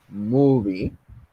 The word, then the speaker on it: movie: Por ejemplo, en el caso de la palabra movie, la palabra mu, bueno, la sílaba mu que tienen al principio, suena más fuerte que vi.